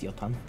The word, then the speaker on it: Jotun: I've always worked under the impression that, you know, the J is pronounced like a Y in Wait, it's Swedish, isn't it? Yeah, in Swedish. Yeah, it is. It's Jotun.